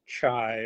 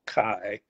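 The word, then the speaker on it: חי: The word for life in Hebrew is the word chai, or I think it's actually pronounced kai, C-H-A-Y.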